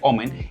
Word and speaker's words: Omen: Tiene su línea gamer Omen, o bueno, sí, así se pronuncia Omen, y su línea Victus.